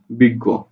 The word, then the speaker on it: বিজ্ঞ: উচ্চারণ হচ্ছে বিগ, গ করে গো, বিজ্ঞ।